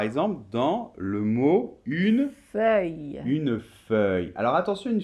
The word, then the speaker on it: feuille: le voit par exemple dans le mot une feuille une feuille alors attention une feuille c'est intéressant